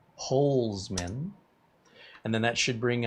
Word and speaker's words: Holzman: No T in my name. CareyHolzman, not Holtzman. Holzman.